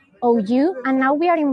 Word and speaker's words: Pandrosou: Yes, it's Pandrosu, Pandrosou.